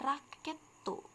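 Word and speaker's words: ラケット: Nah, raket ini jika dirubah ke dalam pelafalan Jepang, dia akan menjadi raketu.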